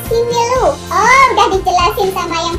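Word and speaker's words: Simeulue: Lamborek koreksi tulisan simuli, bacanya simelu.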